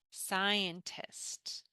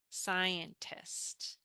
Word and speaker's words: scientist: And notice here that we have this S in front of the C that doesn't exist here. It's the same sound.